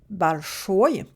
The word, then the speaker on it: большой: Alors j'ai rajouté ici большой. Pourquoi la voyelle est différente ici? Pourquoi un O à la place d'un I? C'est tout simplement parce que l'accent tonique est dessus.